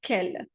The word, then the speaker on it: quel: com o seu cliente que você precisar falar qual você vai sempre falar Kel Mas saiba que existem